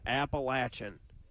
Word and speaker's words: Appalachian: It is Appalachin.